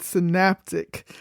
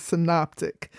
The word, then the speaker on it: synoptic: In a previous episode, I mispronounced this word. I pronounced it synaptic. So don't be like me. The proper pronunciation is synoptic.